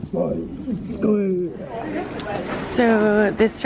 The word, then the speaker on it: skål: You have to say it like a Viking, like skål.